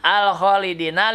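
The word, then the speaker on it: الخالدين: Minal khalidina, al khalidina alif lam komariah. Nah, ini alif lamnya tanda bacanya sukun. Kemudian alif lamnya terasa terbaca. Kemudian kho-nya itu termasuk huruf komariah.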